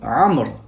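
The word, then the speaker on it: عمرو: Enfin, en fin de mot, le waw peut être rajouté avec le prénom Amr, afin de le distinguer de Omar. Donc avec ce prénom, Amr, on rajoutera le waw mais ne se prononcera pas.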